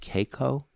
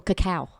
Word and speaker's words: cacao: And the other thing that I read about, I've seen your store, are the, if I'm pronouncing it correctly, Caco, C-A-C-O? Oh, cacao. Cacao.